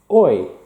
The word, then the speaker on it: hoy: Today, hoy. Don't pronounce that H.